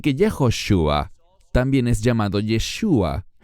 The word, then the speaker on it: Yeshua: nehemia nehemías capítulo 8 él es llamado yeshua no Como algunos mal pronuncian el nombre del mesías diciendo yahua en ninguna parte de las escrituras vemos eso no lo que que vemos es yeshua y no entraré en